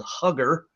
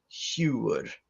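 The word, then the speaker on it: hugr: h u g r i know it looks like it's spelled hugger but it's huge and that is your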